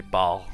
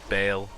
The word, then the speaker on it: Baal: this bale rather uh i always used to say baal i i guess you know it's how it's spelt i guess but it is bail um yeah bail runs